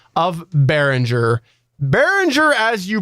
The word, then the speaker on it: Behringer: it over SP in your pronunciation of Berenger bérenger as you pronounce it is correct bérenger not bear ringer as SP pronounces it now I do understand